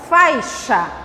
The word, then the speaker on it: faixa: O X aqui vai ter som de CH. Olha a pronúncia. Faixa.